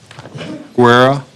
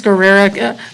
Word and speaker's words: Guerrera: Isaac Guerra, if I'm pronouncing that correctly. I believe it's Guerrera, Casey Etheridge for Mr.